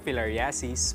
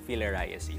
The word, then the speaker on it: filariasis: Actually Mommy Dims ano pwede pwede siyang philariasis, pwede ding philariasis.